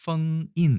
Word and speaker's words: 封印: 중국어로는 펑인 이렇게 얘기하고요. 펑 F 발음이죠.